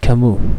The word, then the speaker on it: Camus: next one we have albert camus no silent s because he is a french is the founder of